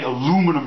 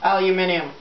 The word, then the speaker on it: aluminium: balloon to tell us we say aluminum wrong aluminium we spell it different